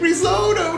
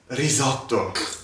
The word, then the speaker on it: risotto: Who's gonna teach me how to make risotto now? Oh my god, it's pronounced risotto.